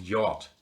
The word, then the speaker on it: yacht: Oh, I probably mispronounced yacht.